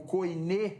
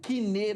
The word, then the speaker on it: koiné: Nós precisamos entender que por mais que o Novo Testamento ele é escrito em grego koiné, na pronúncia erasmiana, e grego kiné, na pronúncia clássica, a gente precisa entender o real significado dessa palavra santo.